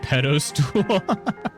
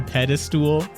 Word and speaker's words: pedestal: you and your world pronunciations, Mrs. Pedostool. Pedostool. There's no pedos to be had here. A pedestal. What's the proper pronunciation as far as I'm concerned?